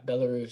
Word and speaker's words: Belarus: You were born in and let me know if I'm pronouncing it right. Is it Belarus? Yeah, Belarus.